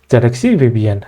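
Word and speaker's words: zxcvbn: from zxc vbn okay initially even I was it was difficult for me to pronounce this name but when I realized this is the bottom row of the keyboard okay it was it become very easy for me to pronounce okay zxc vbn right then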